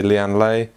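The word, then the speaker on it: Lian Li: the pc q 17 Lee and Lee case however you want to pronounce Lee and Lee some people say Lee Ann lay however you want to say it now if you don't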